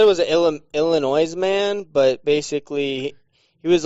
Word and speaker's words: Illinois: it said it was illinois man but basically he was like in a dental visit and hailed a drill bit did you just pronounce the s unsarcastically in illinois did i just say